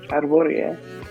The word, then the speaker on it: Hrvoje: Your name is pronounced MZ. Hrvoje.